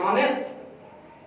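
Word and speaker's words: honest: तो आप बच्चे को बताया जाएगा कि बेटा जब ओ से पहले एच आएगा, हर जगह नहीं, चंद अल्फाज हैं यहां पर ओ से पहले एच आ जाएगा तो एच क्या होगा? साइलेंट। क्या होगा? बेटे को बच्चे को ऐसे बताएं बेटा ये साइलेंट है, खामोश है, इसकी आवाज नहीं है, यहां पर इसकी आवाज प्रोनाउंस नहीं है, ऑनेस्ट।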